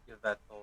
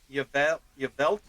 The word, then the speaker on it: Yveltal: Oh wait, Veltal. Wow, how have I never seen that? Okay, well, I stand corrected there. Why Yveltal or Yveltal?